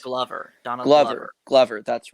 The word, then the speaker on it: Donald Glover: I want to say his name is Donald Grover, Yes, if I'm Donald correct. Glover. Donald Glover, Glover.